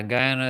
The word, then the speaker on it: Guyana: So it's spelled Guyana, not Una, but Ana.